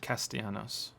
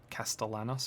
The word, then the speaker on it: Castellanos: Castianos. I've been saying it wrong. Castanos. Okay. Castellanos. I've been saying Castianos.